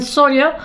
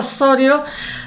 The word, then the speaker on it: Zorio: Sorio se escribe, los italianos me imagino que dirán Sorio, porque la Z creo que hacemos nosotros los españoles y poco más, ni en Sudamérica ni en ningún sitio.